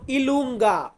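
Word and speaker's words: i lunga: আছে যে যে কে আমরা ইতালিয়ান ভাষাতে বলবো ইলুঙ্গা ইলুঙ্গা কে কে আমরা বলবো কাপ্পা কাপ্পা মানে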